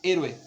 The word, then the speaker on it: héroe: La palabra héroe no es lo mismo, si está dividida en 3 sílabas, héroe, no es lo mismo que yo diga héroe, ¿sí? Se escucha inmediatamente donde tiene la carga de voz más fuerte, héroe, ¿sí?